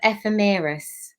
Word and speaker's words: ephemeris: I keep calling it the epidermis because I do skin, and it's not skin. I will. How do you say that word again? It's the ephemeris.